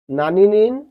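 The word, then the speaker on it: 何人: কিন্তু প্রশ্ন করার ক্ষেত্রে সিঙ্গেলি ব্যবহার না হলে কোন ওয়ার্ডের পাশাপাশি ব্যবহার হলে নান উচ্চারণ হয় সিঙ্গেলি ব্যবহার হলে তখন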